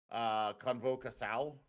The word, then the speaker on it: Convocação: Convocação is how you pronounce that in Portuguese.